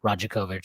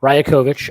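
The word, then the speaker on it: Rajaković: very very upset that I was mispronouncing his name as Roger kovich so thank you for being getting upset with me and correcting me Raya kovich uh darker ryokovic um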